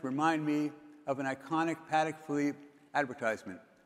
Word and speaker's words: Patek Philippe: I know you're supposed to pronounce it Patek Philippe. I can't do it. I just never get it right.